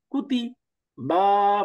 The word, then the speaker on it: كتب: তো দম্মার আরো কিছু উদাহরণ, যেমন কুতিবা, কাফ দম্মা কু, তা কাসরা তি, কুতি, বা ফাতহা বা। ঠিক গেল, কুতিবা, كتب কুতিবা।